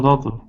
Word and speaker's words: daughter: American pronunciation American accent it sounds like a d daughter uh of course British accent they pronounce their T's all their T's daughter um American accent when